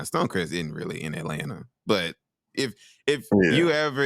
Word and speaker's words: Atlanta: atanta or something you you don't be putting the it's it has a te in it Atlanta not Atlanta it has a it has a second te I'm trying to say